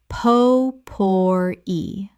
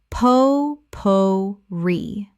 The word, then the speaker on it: potpourri: sha-toe chateau Word 209 potpourri Common mispronunciation: po-pour-ee Correct pronunciation: po-pour-ee Three syllables with the stress on the final syllable from French.